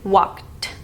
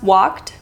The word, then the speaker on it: walked: Talked and walked. So I pronounce walked by taking the tip of my tongue at the end of the word and then removing it off.